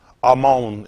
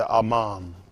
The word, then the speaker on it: Amon: Amon is how you pronounce this one. Amon, mon. Y'all see Amon. We say Aman. So that's how careful you got to be with things.